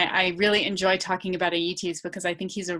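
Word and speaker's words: Aeëtes: the beginning Circe's brother, and I'm going to mispronounce this probably, Aeetes.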